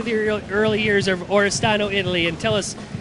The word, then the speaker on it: Oristano: back to the early years of is it oristano Italy Oro did I pronounce it right yeah it's right dude time